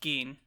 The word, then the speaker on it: Gin: So Gin leaves the house, sees some ants, and the ants are like, I know it's spelled like Gin, but I'm pretty sure it was pronounced Geen.